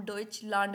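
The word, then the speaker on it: Deutschland: जो मैंने जैसे बोला डॉच लांड ए को हम क्या बोलते हैं आ बोलते हैं तो कभी भी आप इसको लैंड नहीं इसको हम आ से प्रोनाउंस करेंगे कभी भी ए नहीं बोलेंगे ठीक है आगे प्रोसीड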